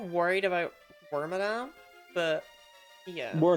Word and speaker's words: Wormadam: to switch Yeah like we're not worried about wormadam but yeah we're not yeah we're just not